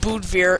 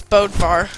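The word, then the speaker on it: Bödvar: right Bo two one it's not pronounced Bo it's bodvar mate it hail my dong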